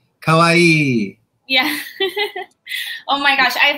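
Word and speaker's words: かわいい: Yes, Rhymes with Hawaii, but the emphasis is a little different. Kawaii.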